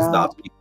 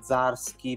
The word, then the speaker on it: Zdarsky: Ma anche a pronunciarlo, io tuttora non ho capito se la D la devi pronunciare o meno, però... Vabbè. No, io non la dico, io faccio tipo Zdarsky, però cioè, mi esce...